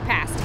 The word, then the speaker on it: pasty: a pasty pasties yeah it's pronounce pasty um I would like